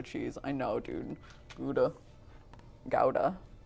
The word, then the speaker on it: Gouda: i know dude buddha gouda gouda apparently is the right way to say it you get yelled at if you go to the cheese lady and you say gouda they're like uh what